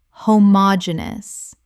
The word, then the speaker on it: homogeneous: mispronunciation homogeneous Correct pronunciation homogeneous Five syllables with the stress on the third.